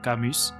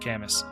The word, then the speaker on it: Camus: the French philosopher and I'm probably going to butcher this but I believe it's pronounced Albert kamus however in college we just said Albert cus uh Alba camus's philosophy